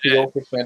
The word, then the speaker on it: Kyokushin: If it's Kyokushin, that's how you say it, Kyokushin.